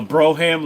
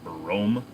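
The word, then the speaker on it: Brougham: A Broham Lincoln, my buddy used to call them Brohams. For those of you that don't know, if you have a Cadillac Broham, it's actually pronounced Brome.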